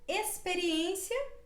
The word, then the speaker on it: experiência: exemplo exemplo se pronúncia experiência como se fosse uma letra s experiência experiência esse pronúncia também